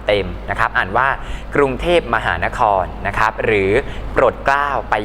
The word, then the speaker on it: กรุงเทพฯ: ต้อง อ่าน คำ เต็ม นะ ครับ อ่าน ว่า กรุงเทพมหานคร นะ ครับ หรือ โปรดเกล้า ไป ยัน น้อย นะ